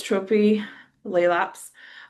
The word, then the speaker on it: Tropilaelaps: So, it's Trophy Laps.